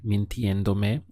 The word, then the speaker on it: mintiéndome: If you did it that way, you would have to put the accent for the pronunciation over the E here. So mintiéndome, or alternatively, you could put this me way up front here.